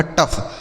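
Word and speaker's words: tough: ट और इस ओ यू जी एच का उच्चारण क्या हो गया? फ ये लिखा गया आपका टफ।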